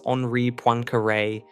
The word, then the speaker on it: Henri Poincaré: The French mathematician Henri Poincaré, whose name is pronounced roughly as Henri Poincaré, recognized this possibility as early as the 1890s,